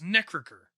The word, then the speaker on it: Necrichor: And I believe it's probably supposed to be pronounced Necrichor. Okay. Because it's the ichor of evil gods, living blood, or the sludge in the crypt of failed liches.